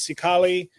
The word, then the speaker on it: Xicali: I believe the pronunciation is Cicali Balloons out of Texas.